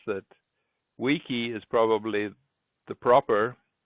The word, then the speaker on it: wiki: there is called a Wiki Wiki bus and wiki wiki means quick in Native hawan how do you pronounce it well Cunningham says that wikii is probably the proper pronunciation but Wiki May